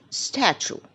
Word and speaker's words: statue: the first one is Statue we never say statue it is a statue we stress on the first three letters stat stat the next one